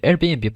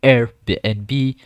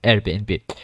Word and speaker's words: Airbnb: after that you will logged in into the Airbnb platform you need to know that the Airbnb is pronounced as Airbnb and not something else like airbn or other things but Airbnb and basically it's so easy to use all